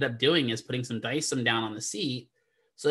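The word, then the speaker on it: Dycem: D-Y-C-E-M is how it's spelled. So D-Y-C-E-M, Dyson. It's that stuff.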